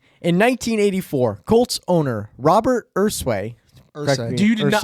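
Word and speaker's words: Irsay: How do you pronounce it? Ursay.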